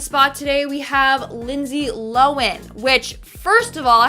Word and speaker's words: Lohan: I've been pronouncing it Lindsay Lohan. It's Lohan.